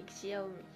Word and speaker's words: Xiaomi: Moi je dis Xiaomi. Voilà, moi je dis pareil, je dis Xiaomi. Ça sonne comme xylophone.